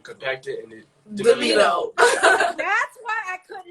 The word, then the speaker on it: Demino: Well, it's actually pronounced Demino. Demino.